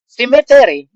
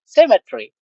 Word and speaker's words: symmetry: cat to cat from from cemet inal pronunciation that there symet but the right pronunciation is symmetry symmetry yeah yeah yeah